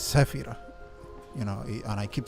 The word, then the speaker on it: Sefiro: keep saying SEO ER most people call me sefo and I don't mind it honestly it's it's I'm not expecting for people to understand things outside their their framework you know if you understand syllables in English go for it I'm not going to mind that but but my my name is Safir you know and I